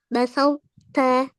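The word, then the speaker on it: بسطت: Iya, basauta, basauta ditebalkan dulu huruf to-nya.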